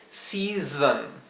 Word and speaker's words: season: zzz, la segunda S se pronuncia zzz, ¿bien? Season. Así que tienen que primero tratar de reproducir zzz, zzz, ese sonido y luego separar esto en las 2 sílabas. La primera, digamos, si, ¿verdad? Con la S suave, si. Y la segunda, zon, season.